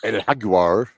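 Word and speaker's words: jaguar: Well, Menders, after intermission, we got Haguar, I believe is how you say that in Spanish.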